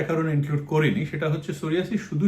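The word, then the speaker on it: psoriasis: সোরিয়াসিসও কিন্তু সেরকম। নিউমোনিয়া বা থাইসিসের মত সোরিয়াসিসের প্রথমে একটা পি আছে যেটার উচ্চারণ হয় না পি এস এরকম ভাবে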